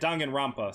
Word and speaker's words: Danganronpa: charge is going to say something if i mispronounce it danganronpa but they say it danganronpa so i'm just gonna go with what they